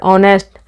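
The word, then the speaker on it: honest: में क्वेश्चन यहीं से फस जाएगा जहां पर ऑनेस्ट ठीक है यहां पर क्या होगा जो ह है वो साइलेंट रहेगा जैसे की अवर का क्या बनेगा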